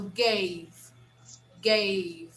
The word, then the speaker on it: gave: vowel gave of course if you have a weak vowel in the end you'll never pronounce that you never pronounce the vowel so gave gave you finished the word with the consonant okay gave gave okay